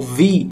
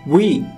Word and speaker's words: V: Também conhecido como Vi, ou na pronúncia coreana como Wi. Wi. É um som que a gente não tem no português. Wi.